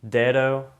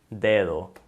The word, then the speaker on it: dedo: It's definitely a softer sound than it is in English.